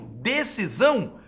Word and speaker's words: decisão: do S do termo decisão? Gente, é só pronunciar a palavra S aqui, ó, a palavra decisão, para a gente ver que o S aqui está com som de Z.